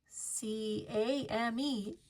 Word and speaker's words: came: C A M E came. The E tells the A to be long. Then the E is silent.